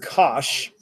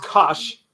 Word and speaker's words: cosh: sorry this is pronounced cosh yeah it's pronounced cosh like Tosh posh posh spice let's go let's go